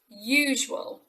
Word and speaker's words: usual: you say it so it should be usual usual not usual or as well any other variation on that that's actually a u sound not an at the beginning he got to work